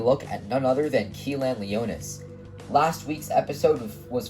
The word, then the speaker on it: Kilan: It's normally spelled K-I-L-A-N, but some people spell it with an R instead of the L. So I'm going to be saying Kilan, but you can say Kilan, Kiran, whatever. But again, I will be saying Kilan throughout the video.